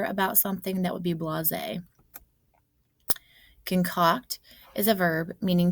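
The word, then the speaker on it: blasé: sometimes belittled his students this next word is blase is how you pronounce it it's an adjective meaning uninterested or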